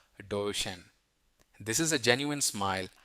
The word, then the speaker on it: Duchenne: But the ultimate hack is the Duchenne smile. That's spelled Duchenne, pronounced Duchenne.